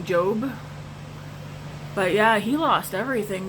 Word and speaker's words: Job: want face like job is it job or job I know like it's spelled j-o-b so job but I think I've always pronounced his name Jobe but yeah he lost